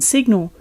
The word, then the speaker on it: signal: In signal, the I shifts to a short I, and we can hear a G in this two-syllable word.